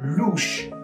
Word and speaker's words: louche: Today we're going to talk about the word louche, which is a great word to start supplementing your adjectives.